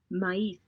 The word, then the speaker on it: maíz: maíz, maíz, Maíz, corn.